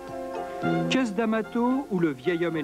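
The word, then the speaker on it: Cus D'Amato: tabac trois castes d'amato le nom est prononcé qu'est-ce d'amato où le vieil homme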